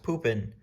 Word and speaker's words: Pupin: have this name Pupin, and that's how it's pronounced, Pupin.